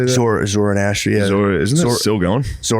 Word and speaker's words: Zoroastrian: Zoroastrian, yeah.